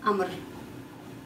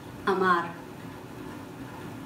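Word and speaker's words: амар: according to the rule, the first A, which is in the first syllable, has a stress, so it's pronounced clearly, but the second A is unstressed vowels, so it won't be pronounced. It will be pronounced like Amr, not Amar. Amr.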